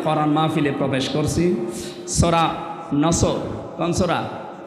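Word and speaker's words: نصر: সূরা নসর কোন সূরা বলেন বলেন নসর নাসর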